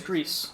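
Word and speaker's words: Gris: So, it is Greece. I've been pronouncing it wrong.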